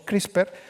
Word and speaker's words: CRISPR: Y fijaros que esta palabra CRISPR, que la tenemos que pronunciar en español con esta E muda que no tenemos, CRISPR, que está en boca